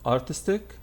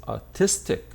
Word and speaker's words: artistic: ic at the end this one is not artistic the noun is artist but the adjective is artistic artistic this one athletic athletic